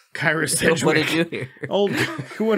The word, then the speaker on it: Kyra Sedgwick: Kyra Sedgwick. Her. I didn't pronounce it right. Kyra Sedgwick.